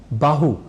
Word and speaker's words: बाहु: हम भूल करते हैं जैसे बाहु या सुबाहु शब्द है सुबाहु का अर्थ होता है अच्छी भुजाओं वाला अच्छी बाहु वाला पर बाहु और सुबाहु के उच्चारण के क्रम में हम में से कई कह जाते हैं भाह या सुभाह ऐसे ही भुजा को